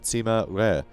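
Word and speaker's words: Sima Rui: pronunciation or whatever but it's like rare so like this steak is rare lovely nice and bloody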